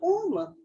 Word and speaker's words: Om: Because that is respectively is in the syllable Om.